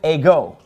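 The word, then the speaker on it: ἐγώ: am the way now the word a go it gets the accent on the second syllable see that accent is over the Omega hey go Amy L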